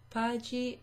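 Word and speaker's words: paghi: So in Italian, to make that hard G sound, you add an H after the G. So, pagi non si usa.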